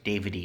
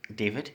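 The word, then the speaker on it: Davide: Davidy, right? No, it's David. David. Yeah, I thought there was an E at the end of your name. Yeah, there is, but it's pronounced David.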